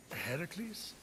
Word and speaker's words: Heracles: Heracles? Yeah, that! That is how it's supposed to be pronounced.